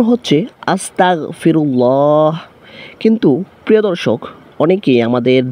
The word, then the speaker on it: أستغفر الله: ইস্তেগফারের উচ্চারণ হচ্ছে আস্তাগফিরুল্লাহ। কিন্তু প্রিয় দর্শক অনেকেই আমাদের দ্বীনি ভাই ও বোনেরা ভুল করে থাকেন যে আসতা গ এর জায়গায় ক উচ্চারণ করে অর্থাৎ গন গনের জায়গায়